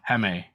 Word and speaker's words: Jaime: yeah, and then like him, Hame, how do you say his name? It's like Jamie, but Jaime? Hame. Jaime. Yeah, Hame.